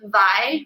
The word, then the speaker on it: wai: it is Hawaii, because in the Hawaiian alphabet, W's are pronounced in the V sound. And so Vai, for instance, V-A-I, is actually water.